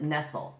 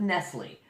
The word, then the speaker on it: Nestle: She pronounced it Nestle. It has nothing to do with Nestle.